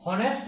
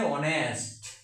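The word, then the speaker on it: honest: কারণ এইচটা লুপ্ত থাকবে এইচ এর উচ্চারণটা লুপ্ত থাকবে যেমন এখানে হনেস না হয়ে অনেস্ট না হয়ে উচ্চারণটা হবে অনেস্ট।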